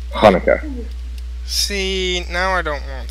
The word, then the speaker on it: Hanukkah: at him SP chica doesn't mean you pronounce it Chuka you pronounce it in Hebrew it's Hanukkah see now I don't